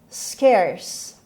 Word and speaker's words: scarce: The word is scarce. Scarce. Scarce. خب کلمه scarce دقت کنید بچه ها، این کلمه یک بخشه. It has one syllable.